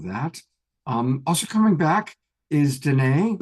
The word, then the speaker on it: Danae: Also coming back is Danae, which reminds me that it rhymes with Renee.